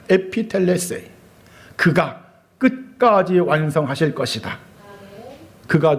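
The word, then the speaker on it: ἐπιτελέσει: 원어적으로 이 문장을 발음하면은 에피텔레세이라고 합니다. 에피텔레세이.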